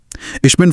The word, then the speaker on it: ich: Etch को इश्क की तरह बोला जाता है। इक नहीं।